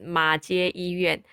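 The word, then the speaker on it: 马偕医院: better tell you that the Chinese way to pronounce it is 马街医院 because Mackay is so different from the Chinese version.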